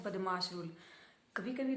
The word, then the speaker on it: BODMAS: इस रूल के अकॉर्डिंग क्या होता है, बदमाश रूल, बामास रूल भी बोलते हैं कई इसको। इसकी प्रोनाउंसिएशन हर किसी के अकॉर्डिंग अलग है, लेकिन मैं इसे बदमाश रूल ही बोलती हूँ।